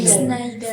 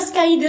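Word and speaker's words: Schneider: Sneider. Sneider. Iya, P. Saya enggak bisa bahasa Inggris jadi bacanya skider. Skyider gitu, Bu. Yang benar apa? Sider. Sneider. Siderider.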